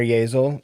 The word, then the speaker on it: Yeazel: So, why don't you tell the classer your full name that I disrespectfully mispronounce. My name is Yazel.